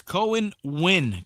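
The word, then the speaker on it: Cohen Wynne: Cohen Wynn. Cohen. C-O-N. C-O-E-N. Cohen. And then Wynn. W-Y-N-N-E. I believe that's how you spell it. That's like just like the Wynn Hotel right there in Vegas, right?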